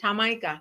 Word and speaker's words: Jamaica: Jamaica.